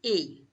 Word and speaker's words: he: So I have is a. H is silent, so you will say a.